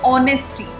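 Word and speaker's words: honesty: कभी भी ये जो साउंड है, this will not बी अ ह साउंड. ये किसका साउंड होता है? ऑ साउंड. तो आपको इस चीज़ की प्रैक्टिस करनी है, ऑनेस्टी.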